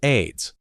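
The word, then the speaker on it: Ayds: In the 1970s, there was a popular appetite suppressant candy called AIDS, pronounced AIDS.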